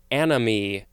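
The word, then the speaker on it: anomie: Next we have anomy. Sort of sounds like the word enemy, but this is spelled A-N-O-M-I-E, or it could also be spelled A-N-O-M-Y.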